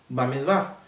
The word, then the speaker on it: Bamidbar: es importante aclarar que el libro de números en el hebreo se pronuncia báez va que quiere decir exactamente